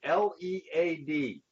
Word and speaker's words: lead: how about this word l e a d well when we pronounce it with a long e e sound like lead well guess what as